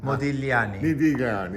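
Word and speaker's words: Modigliani: so it's just modani the g is silent modani well of course you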